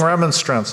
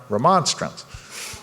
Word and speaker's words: remonstrance: to look it up I was saying remonstrants all the time I wrote this book because the verb is remonstrate right but then when online remonstrance so we're gonna pronounce